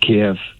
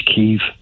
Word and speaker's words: Kyiv: take political sides and it's not Kiev, that it's Kyiv.